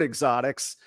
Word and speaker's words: Xotics: you just mentioned it there's no e on the front of the actual word Exotics and the last thing